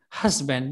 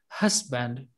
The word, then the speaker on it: husband: Husband. The stress is on the first syllable. Husband.